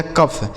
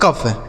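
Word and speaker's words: cough: ओ यू जी एच का उच्चारण फ। यह हो गया कफ। क्या हो गया मेरे दोस्त? कफ।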